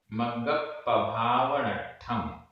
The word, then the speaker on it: मग्गप्पभावनट्ठम: मग्गप्पभावनट्ठम, मग्गप्पभावनट्ठम, आधा का पूरा गा, आधा प पूरा प, आधा ट ठ बिंदी। मग्गप्पभावनट्ठम, पवयण, पवयण, भक्ति पचोदिदेण, पवयण भक्ति पचोदिदेण, ये भी पूरा एक शब्द है।